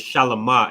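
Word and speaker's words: שלמה: So his name is Shalamah in the Hebrew. It's just Shalom with a ha there.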